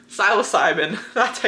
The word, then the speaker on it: psilocybin: Psilocybin, that's how you pronounce it.